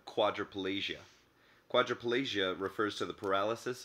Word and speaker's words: quadriplegia: K could also be spelled with the letters QU, like the term quadriplegia.